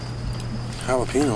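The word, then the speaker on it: jalapeño: Jalapeno? What flavor is that? Ricky. Jay Silent. You're saying it wrong. The J's like an H, Ricky.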